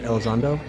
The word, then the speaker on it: Elizondo: the whole thing with Luis, how do you pronounce his name? Elizondo.